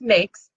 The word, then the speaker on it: NAICS: So there's the NAIC code, which is pronounced NAICS, and it's the North American Industry Classification System.